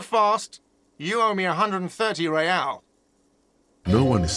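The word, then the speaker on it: réal: What's real? Oh, excuse me. You owe me 130 real. Pronounces the R with a mock aristocratic accent.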